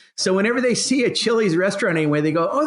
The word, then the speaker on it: Chili: near where Kyle is from and it's actually it's spelled ch ili and of course Paul a being that you're